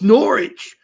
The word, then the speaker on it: Norwich: as dialects change slightly as the dialect changed in the country they stopped pronouncing the W's so if but they